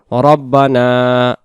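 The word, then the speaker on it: ربنا: প্রথমে আমরা যে দোয়াটি শিখতেছি রব্বানা জলামনা আনফুসানা রব্বানা রাব্বানা বলবা না উচ্চারণ রব্বানা রব্বানা না এক আলিফ রব্বানা জলামনা জালাম না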